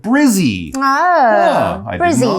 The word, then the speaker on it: Brisbane: local people call it Brizzy you know that notice it's it's Brisbane right you wouldn't say Brisbane so it's not like a long a it's Brisbane Brisbane Australia not Brisbane Australia but if you really